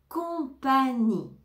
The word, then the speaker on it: compagnie: ou couleur couleur couleur compagnie compagnie on ne va pas prononcer le G ni le E à la fin compagnie compagnie condition condition